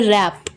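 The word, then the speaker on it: wrap: English में कहते हैं रैप डब्लू साइलेंट है यहां पे तो रैप की स्पेलिंग में W silent W आर ए पी रैप रैप करना मतलब होता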